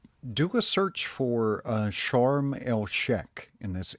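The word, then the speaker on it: Sharm El Sheikh: yeah yeah it was it was usually pronounced as Sheek but that's okay okay so is that where you hung out well charmal Shack was um a little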